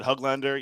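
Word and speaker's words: Höglander: were telling me too you know how I say Neil's huglander and people make fun of me and they say I'm saying it wrong they loved it they all loved the way that I said huglander Elise Peter strong I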